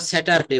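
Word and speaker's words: Saturday: এ ওয়াই এটা আমরা স্যাটারডে বলি স্যাটারডে কিন্তু এখানে আরটা টোটালি বাদ দিতে হবে স্যাটারডে স্যাটারডে স্যাটারডে এগুলো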